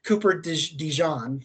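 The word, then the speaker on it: Cooper DeJean: linebacker there as well Cooper Dijon like the mustard is how you pronounce his name uh like that looked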